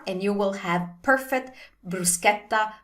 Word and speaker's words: bruschetta: You want to pronounce this like the sound in ask. It's a hard C sound.